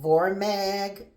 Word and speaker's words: Vormag: And it has something in here called, well, they have water in here, but they call it Vormag or Vormag. I don't know how to pronounce it. It's VOR-MAG.